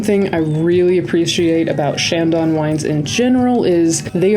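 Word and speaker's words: Chandon: We then headed to the most glamorous estate on our tour, the man Shandon. And yes, I do know how this one is actually pronounced.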